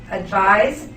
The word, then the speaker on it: advise: which sounds like this advise is a verb which is spelled with an S and which is pronounced like a Z okay let's do a